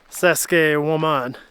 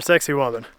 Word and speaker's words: Saqsaywaman: After an unnecessarily strenuous hike up here, we have finally made it to Saskuke Woman or sexy woman. It's pronounced like that, so don't judge me in the comments.